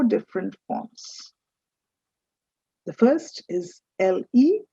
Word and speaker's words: le: The first is L-E, that's pronounced as le.